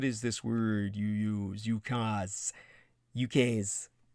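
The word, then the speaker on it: ukase: there we are uh spell it ukaz to make it easier on yourselves uh but it's properly ukas a proclamation of the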